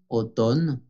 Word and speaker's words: automne: Por fonética debemos de decir en été, en automne, la M no se pronuncia, automne, en hiver.